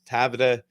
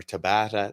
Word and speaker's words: Tabata: So what I really like to do with Tabata, or Tabata, depending who's pronouncing it, I always start people off with 10 on, 20 off.